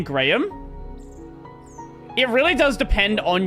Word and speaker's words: Graham: The H is silent. I mean, it's not Graham. Well, actually, that's the interesting part with the name Graham.